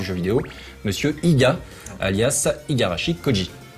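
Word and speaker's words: 五十嵐孝司: vidéo, monsieur Iga, alias Igarashi Koji. Igarashi Koji. Voilà, pour bien prononcer.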